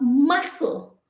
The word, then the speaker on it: muscle: is completely negated it has no value um muscle muscle m-u-s-c m-u-s-c-l-e muscle you can say m-u-s-s-e-l